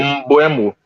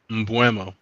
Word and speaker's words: Mbeumo: Mbuemo. Mbuemo. Exactly. No, what did he say? Wait a minute. That's what I've been saying the whole time. What are you talking about? No, you say Mbuemo.